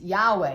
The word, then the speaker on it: Yahweh: It's Yahweh. It's a sound of a breath being taken for the first time.